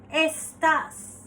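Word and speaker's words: estás: are you estas estas the alphabet e is pronounced as a estas C por favor means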